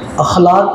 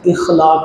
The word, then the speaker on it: اخلاق: اخلاق, یہ لفظ الف کے زبر کے ساتھ ہے. معاشرے میں یہ لفظ اخلاق بولا جاتا ہے. الف کے زیر کے ساتھ یہ تلفظ اور اس کی یہ پرونسیشن یہ غلط ہے.